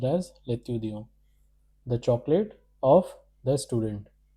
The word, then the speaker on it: l'étudiant: This is pronounced as l'étudiant. Because of the liaison rule, this L will get connected over here as with the C. Therefore, it will be pronounced as l'étudiant.